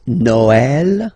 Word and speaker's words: Noël: The last one, tréma, well, basically it's quite rare, and the tricky thing is that in some cases you will have to pronounce it like eh, okay, like for instance Noël, okay, but then in some cases as well it can be pronounced like e, okay.